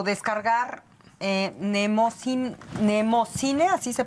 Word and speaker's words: Mnemósine: dinos cómo podemos bajar o consultar o descargar eh nemocine, así se pronuncia, nemineose.